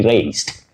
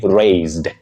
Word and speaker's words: raised: Don't say raised. He raised me well. No. Say raised. Raised. With that voiced sound Z for the letter S in that word.